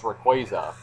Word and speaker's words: Rayquaza: the official pronunciation is Rayquaza yeah the Y is silent apparently but I did not